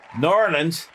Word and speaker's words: New Orleans: Sexy Hefe is going to get the New Orleans. New Norlands is how they say it down there. Norlands. Norlands. Like Narl, but Norland.